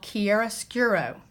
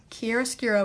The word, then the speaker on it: chiaroscuro: we're going to be using what is called chiaroscuro Kearse Kuro is spelled c8 i aro SC u ro chiaroscuro